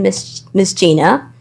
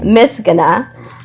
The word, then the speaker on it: Misgana: Well, my name is Miss Gina. If you want to pronounce it the ethnic Eritrean way, it's Misgana.